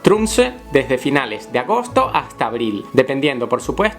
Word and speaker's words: Tromsø: phenomenon can be observed in Tromso or better pronounced Tromsø, from the end of August to April.